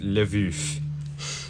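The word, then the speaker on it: Lwów: I have the pronunciation it spelled LW o w and it's pronounced live ish well because other languages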